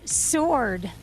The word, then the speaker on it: sword: winner here we go your word is sword W oh oh my gosh